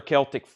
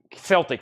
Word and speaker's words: Celtic: vinyl Master $29.99 another Celtic Celtic Frost the Boston Celtics is the only way you pronounce it Celtic everywhere else it's Celtic like Celtic Frost let's do Celtic Frost